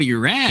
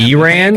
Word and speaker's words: Iran: I want to ask the panel about Iran. Iran. Iran. Yeah. Way to say it. Okay. I follow you my my farsy brothers. That's how they say it. They don't say I ran.